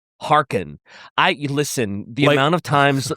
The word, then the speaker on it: Harkon: Did you say his name is Luthor Harkonnen? Harkon.